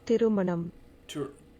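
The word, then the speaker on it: திருமணம்: Tirumanam. Like aluminum. Tirumanum.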